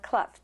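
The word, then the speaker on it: Clough: kff Dr Wayne kff oh you pronounced it kff uhhuh cluff just like Ruff I never I I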